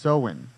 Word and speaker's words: Samhain: Oh, pronounced Samhain. Samhain. It's not even spelled any.